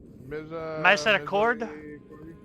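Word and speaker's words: Misericorde: I don't know how to pronounce it. It's a fucking French word. French was never. Oh, Misericord?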